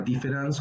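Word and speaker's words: différance: arriba utiliza la palabra difference con a por qué porque la la pronunciación es igual con e o con a se pronuncia igual dice ahora lo que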